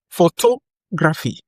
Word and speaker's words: photography: Now, we have photography. Photography. Photography. Pho-to-gra-phy. Photography has stress on the second syllable. Pho-to-gra-phy. Pho-to-gra-phy. So, the stress is on to.